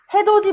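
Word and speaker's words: 해돋이: 이것도 누가 구디라고 발음해. 그렇지? 구디라고 하지 않지. 구지 해도지 보러 가자라고 하지. 해도 보러 가자라고 하지 않죠. 해도지.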